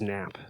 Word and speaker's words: NHP: we we just um we spell it in hp but we pronounce it as nap the nap oh yeah